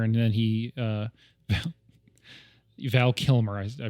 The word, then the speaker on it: Kilmer: lit it was supposed to be with Val Kilner and then he uh Val Kilmer I pronounced his name wrong sorry it was supposed